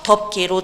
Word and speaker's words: 덮개: 덮개 같은 경우에는 받침 피읍이 음절의 끝소리 규칙에 의해서 덮개로 적힌 다음에 그 다음에 된소리 대기 규칙에 의해서 덮개 이렇게 발음이 되고 있습니다.